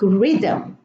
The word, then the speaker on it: rhythm: Now, the H here is preceded by an R at the beginning of the word, or when it's in the middle, even in the middle of the word, and the H is silent.